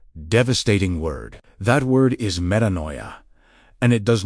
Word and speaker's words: metanoia: Metanoia, pronounced meh-tah-no-yet.